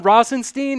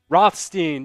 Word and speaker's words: Rothstein: for a second question but was it John Rosenstein is that how you pronounce his name Rothstein yeah he uh he was like nope don't